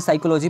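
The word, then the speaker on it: psychology: की साइकोलॉजी ठीक है साइकोलॉजी पीस साइलेंट है इसलिए साइकोलॉजी पढ़ा जाता है तो मोनो वैज्ञानिक में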